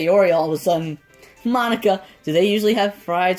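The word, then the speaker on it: Monika: it oh well yeah that's not how you say my name at all um Monica not Mon at the time so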